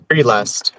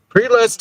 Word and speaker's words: prelest: Wait, you said spiritual Prelast. I'm not sure I know pre-last. Prelest is it's a very specific word, but it basically means self delusion.